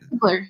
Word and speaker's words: Ziegler: And does she pronounce her last name Ziegler, or how does she? Ziegler, yeah.